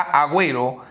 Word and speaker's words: Agüero: la riva way pero para que la u se pronuncie guerra vuelo guerra agüero para que la u se